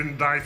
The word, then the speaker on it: indict: also, may I just moan that the word indict has a C that no one pronounces.